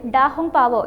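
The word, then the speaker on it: 大红袍: റെഡ് റോബ് എന്ന് പേരിട്ടു ഇത് ചൈനീസ് ഉച്ചാരണത്തിൽ ഡാഹും പാവോ എന്നാണ്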